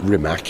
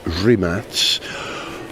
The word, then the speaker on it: Rimac: It's not Rimac, it's Rimats.